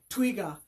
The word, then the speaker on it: twiga: Well, in Kiswahili, the word for giraffe is, I'm sure some people know it out there know it, twiga.